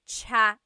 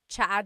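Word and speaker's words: tsa: Chaa. Chaa. That's such a Tagalog spelling. I love it. There's the T-S sound and then the double vowel pronunciation.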